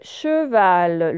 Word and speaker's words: cheval: Le cheval, le E, il se prononce E parce que regardez, il est suivi d'une consonne et d'une voyelle et non pas de deux consonnes.